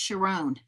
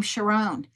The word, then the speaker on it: Sharon: And in that wedding, the woman's name was Sharon, but pronounced Sharón. And so she called me and she said, I went to this wedding and they pronounced this name Sharón.